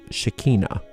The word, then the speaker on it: Shekinah: the invocation of the shekinah and now in an english accent that is pronounced shakina and it's fine always